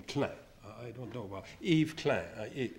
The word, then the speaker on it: Klein: Eve Clan did okay you probably pronounce Klein but the French call him Clem I don't know about